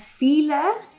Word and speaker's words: file: from each other and feeler which is pronounced in english as file by the way it's spelled do not mean the